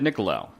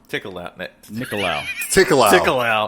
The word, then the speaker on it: Nicolaou: We're going to be talking about 1986 TerrorVision, directed by a dude I can't pronounce his last name. Ted Nicolaou. Nicolaou.